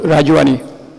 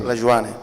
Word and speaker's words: Rajuani: My full name, Rajuani.